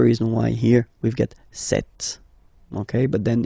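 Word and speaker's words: cette: s and then it will be set set okay so as you usual in French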